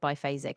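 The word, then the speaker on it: biphasic: You said bifphasic and that's correct.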